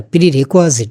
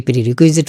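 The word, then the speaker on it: prerequisite: করতে হলে আবার তার প্রিরেকুজিট বলে ইংরেজিতে অনেকে প্রিরেকুইজিট উচ্চারণ করেন এটা হচ্ছে প্রিরেকজিট প্রিরেকজিট হচ্ছে লিসেনিং স্কিল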